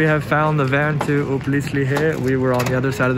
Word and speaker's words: Uplistsikhe: I've been saying it wrong this whole time. It's Uplistsikhe. I think that's closer.